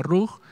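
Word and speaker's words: רוח: bien bueno dice comentario hermano se pronuncia rock la gramática de la palabra viento es rock si fuera rock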